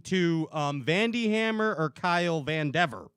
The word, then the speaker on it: Vandever: My family's always said Vandever. Vandever.